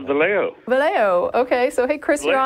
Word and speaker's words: Vallejo: How do you pronounce that? California? It's Vallejo.